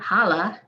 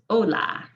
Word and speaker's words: hola: repetition and practice now the h is silent please don't pronounce it it's not holla it's hola hotel hospital hombre can't